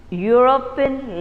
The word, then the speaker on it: European: you speak the word when you say the word it comes as what is the sound that you get you get you you sound isn't it yo sansa a european lady because though this